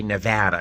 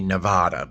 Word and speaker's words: Nevada: It took me forever to say Nevada because I always want to say Nevada, but it's Nevada.